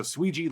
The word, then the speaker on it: Suigi: my Japanese league streams Tetsuweji desu to actually get make sure people pronounce it properly. So, Sweji like Luigi, that's where the gimmick came from.